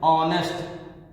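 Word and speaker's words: honest: जैसे ऑनेस्ट, यहां निकालते हैं, यहां पहला अक्षर तो वोवेल नहीं है, कॉन्सोनेंट है, उस हिसाब से ए आना चाहिए, लेकिन नहीं, ये गलत है, क्योंकि इसका जो प्रोनाउंसिएट करते हैं इसको भी पढ़ते हैं ऑनेस्ट, ऑनेस्ट, इसको पढ़ते हैं ऑनेस्ट। तो इसका प्रोनाउंसिएट का पहला अक्षर हिंदी का वोवेल है, हिंदी का, इसलिए इसकी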